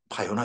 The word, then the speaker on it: 바요나: 예수께서 대답하여 이르시되 바요나 시모나 요한의 아들 시모나입니다. 바르 바르 요한인데 그게 어 히브리식으로 발음하다 바요나 이렇게 돼 버린 거죠.네 네.